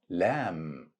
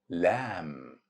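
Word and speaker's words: لام: It's pronounced just like the English letter L. Easy letter because has direct equivalent sound with English, same sound of letter L in the English word luck.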